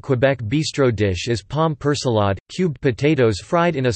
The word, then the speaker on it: Persillade: Persillade, French pronunciation, sajade, is a sauce or seasoning mixture of parsley, French, persil, chopped together with seasonings including garlic, herbs, oil, and vinegar.